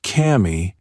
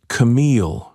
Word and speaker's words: Camille: "It's not Cammy, it's Camille," she said, like the woman who made the country listen.